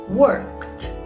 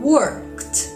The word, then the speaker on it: worked: these two words learned worked learned work worked did you get it yes in learned the D sounds like d but in worked the D sounds like T but why it's very